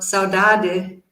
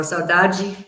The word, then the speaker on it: saudade: Like, for example, the Portuguese word saudade in European Portuguese pronunciation, or saudade in Brazilian, it means something like